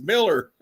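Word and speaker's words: Millar: And everybody calls him Malar. And he goes, "It's Miller."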